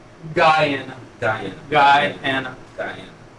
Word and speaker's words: Guyana: But you said so basically like the whole lineage is from is it Gianna? Guyana. Guyana. Guyana. Guyana. How you spell that?